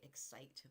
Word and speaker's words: Xcite: ship coming out, the Celebrity Excite, but it's X-C-I-T-E.